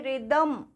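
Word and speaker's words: rhythm: इसी तरह से रिदम, रिदम, इसमें भी हमने रिदम बोला, H को साइलेंट किया, ठीक है।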